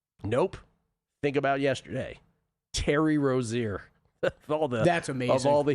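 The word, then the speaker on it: Rozier: Terry Rosier all theing of all the historical quirks aka he says Rosier as they pronounced his last name during the presser yesterday.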